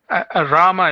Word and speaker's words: Rama: Ramy, am I pronouncing your name correctly? Rama is fine. Rama. Okay. Rama. Almost like Roma.